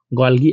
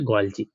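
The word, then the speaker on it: Golgi: फिर आता है हमारा सेकंड, गोल्गी एपरेटस। ठीक है, देखो, इसको बहुत लोग गोल्गी पढ़ते हैं, बट इसको जो प्रोनाउंसिएशन होता है, ये क्या होता है, वो होता है गोल्जी।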